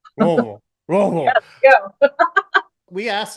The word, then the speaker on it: Louisville: I never know how to say You Louisville, gotta say it like you're drunk on bourbon. You gotta slur it. It's Louisville. Louisville, Louisville.